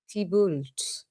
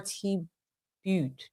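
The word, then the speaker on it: Thibault: Tibult. You pronounce it tomorrow. Tibo.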